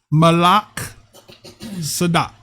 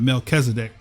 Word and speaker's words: Malak Sadak: That's how you say his name. Malak Sadak. Okay. It's not Melchizedek. But next week we'll break it down. We'll explain to you why it's not Melchizedek. It's Malak Sadak.